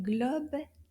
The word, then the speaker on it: globe: Can you find the O sound in globe?